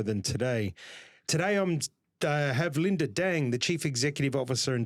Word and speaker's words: Linda Dang: Today I'm have Linda Deng the chief executive officer and director of growth management and financial advisory at Advisory Accountants.